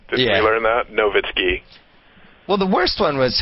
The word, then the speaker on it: Nowitzki: Well, we learned in the finals that Dirk Nowitzki, the W is pronounced like a V, right? Did we learn that? Nowitzki.